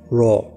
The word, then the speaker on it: Ra: Das erste Wort Ra wurde fast so ausgesprochen wie das Wort Raw. R-A-W.